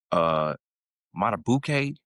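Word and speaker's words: Madubuike: Matabuke, is that his name?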